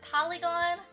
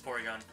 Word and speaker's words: Porygon: I was trying to pronounce, I was like, wait, is it Polygon? It's Porygon.